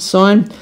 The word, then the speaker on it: sin: sine function okay so it's written in your calculator and sin but we pronounce it sine so if we think